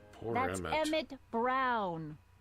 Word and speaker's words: Emmett: Emmett Brown. Rhymes with clown, which I'm beginning to think you are.